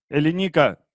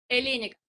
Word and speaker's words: Эленика: Эленика, нас слышно хорошо? Я правильно ударение ставлю? Хорошо, что спросили. Нет, неправильно. Я вечером на горохе отстаю полчаса. А как правильно? Хорошо. Эленика? Эленика.